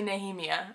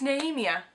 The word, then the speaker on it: Nehemia: and thrown a glass it's naemia nehemiah so um i've been saying that wrong but quick correction you